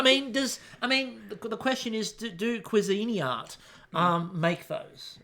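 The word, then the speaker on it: Cuisinart: the question is do cuisini art um make those by the way we're going with another pronunciation because apparently last week was wrong too so cuisini art do they get onto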